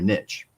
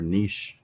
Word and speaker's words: niche: I mean, we did a class or an episode on defining your niche or niche, depending on how you say it.